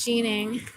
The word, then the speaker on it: Schoening: department section whatever s-c-h-o-e-n-i-n-g so i've heard it pronounced like three different ways because of because of who they are so it's either franz schoening which is normal or france sheening which god knows what sheening means like martin